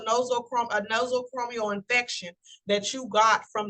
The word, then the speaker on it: nosocomial: Next in line, the word is pronounced nosocomial infection. This is an infection that is acquired while in a hospital or medical setting.